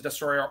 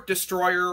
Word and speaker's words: Destoroyah: It's the Japanese pronunciation of the word Destroyer.